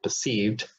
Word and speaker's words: perceived: It is in an unstressed syllable, because here perceived has two syllables. The first one is weak, P, and this one is strong, sieved.